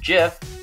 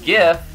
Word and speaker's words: GIF: and that's the world that it should be pronounced jiff and knocked gifts and in this settle the